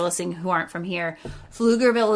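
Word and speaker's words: Pflugerville: who aren't from here fluger Ville is is spelled PF l u g RV i l l e pfugerville is is what it looks like yes and then to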